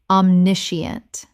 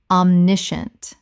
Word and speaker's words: omniscient: Omniscient. Correct pronunciation. Omniscient. Three syllables in natural speech. The scient collapses to shunt.